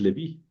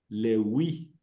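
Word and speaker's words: Λευί: Sí, nada más que en griego no es Leví. Leví, no. Lewi. Sí, Lewi. Lewi.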